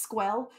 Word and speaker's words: SQL: oh thank you Dan it's pronounced squel yeah you know I think there's an XKCD comic about that I just you just pronounce it squirrel and and everybody will be confused I think that's the best way to do it and